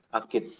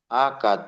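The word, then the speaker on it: آكد: Akid tadi dibacanya apa? Akad atau akid? Akad ya.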